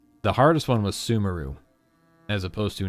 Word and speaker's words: Sumeru: The hardest one was Sumeru, as opposed to not Sumeru.